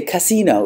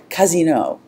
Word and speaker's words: casino: little pleasure house and you have to say that with the accent on the correct syllable because if you say casino it means brothel so if you go